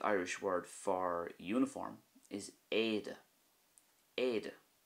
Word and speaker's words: éide: Also, the Irish word for uniform is éide, éide. And again, you can see how the E fada pretty much dominates the word, éide.